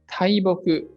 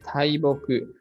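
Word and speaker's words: 大木: This is read. Tai, depending on the next kanji. The combination of other kanji decides how it is read. In this case, taiboku.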